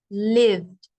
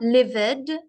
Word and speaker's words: lived: what we had so live is live lived the E becomes silent and it has one syllable one sound lived not livid because then that's two or three sounds livid it's lived live lived okay number three laia so